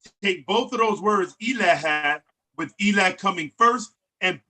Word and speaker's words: ILA: I's are E's, so that would be pronounced Ela.